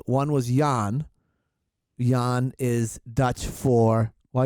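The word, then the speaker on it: Jan: why okay what it's Yan you say Yan that's how you pronounce it in Dutch that's how you say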